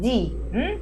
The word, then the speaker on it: the: The message of Christmas is, you know, that when we have the article the and the following word begins with a vowel. Instead of the, we pronounce it D.